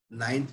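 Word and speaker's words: neun: Ninth की जो spelling है वो है N E U E N एंड इसको प्रोनाउंस करते हैं नॉइन। इसको प्रोनाउंस करेंगे नॉइन।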